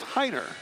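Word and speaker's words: Rainer: thing that spelled our AI NER but it's pronounced Heiner why is the ARP pronounced like an H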